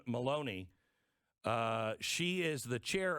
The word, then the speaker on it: Maloney: uh what's her name rhymes with bologna carolyn maloney uh she is the